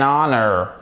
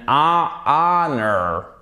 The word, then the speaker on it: honor: On ne prononce pas le H.